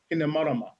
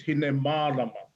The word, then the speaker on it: Hinemarama: And likewise, the name of our tupuna, which appears often without a macron, but it's incorrectly pronounced as Hinemarama, the moon maiden, when in actual fact it's Hinemarama.